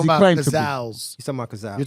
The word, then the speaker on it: Cazal: So the original frame was called Cazal, Cazal.